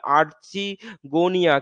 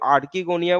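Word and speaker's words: archegonia: Sex organ যাকে বলে আর্চিগোনিয়া, কেউ আর্চিগোনিয়া বলে, কেউ আর্কিগোনিয়া বলে, যেটা যার ইচ্ছা সেটা সে বলতে পারে, দুটো দুটোই উচ্চারণে হয়, কিন্তু আমি আর্চিগোনিয়া বা আর্কিগোনিয়া বললেই হলো, একই একই জিনিস।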